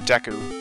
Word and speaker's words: Deku: you will be Teague the pronounced DQ word Deku I've heard people say it both ways I always fight as